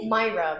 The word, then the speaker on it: Myra: Et j'ai Myra Kennedy. Est-ce que j'ai bien prononcé? Myra, mais en français, en anglais, c'est international.